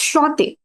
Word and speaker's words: enchanté: So N, the pronunciation of N is silent, or like though both the N, no, on is okay, but chanté, Hmm. chanté or chante. Yeah, so the thing is, yeah, it's shante.